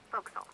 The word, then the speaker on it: forecastle: The forecastle on a ship refers to the upper forward deck of a sailing ship, but it's pronounced forecastle. Why is that? Try pronouncing it like an English sailor with no formal education. Forecastle. Forecastle. Over time it whittled down.